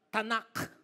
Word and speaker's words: Tanakh: walang vowels ang Hebrew, T and K, you pronounce it as Tanakh. Dapat may dahak para totoong Hebrew.